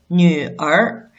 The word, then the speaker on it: 女儿: But one thing is, if this is not a retroflex final, it's a syllable read as 儿. For example, 女儿.